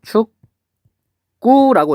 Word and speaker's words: 축구: 얘는 발음하면 축구라고 이렇게 발음이 돼요. 여기 있는 기억이 쌍기억으로 바뀌었어요. 기억이 쌍기억으로 바뀌었다.